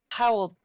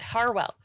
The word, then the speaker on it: Harwell: that so um Stephen Howell Powell oh my God Stephen Steve how well right I have to say it right it is Howell Farwell oh my God Harwell Steve Harwell uh please forgive me